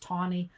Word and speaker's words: Taney: It's spelled Roger Taney, Taney, but it's pronounced Taney. I have no idea why, but it is.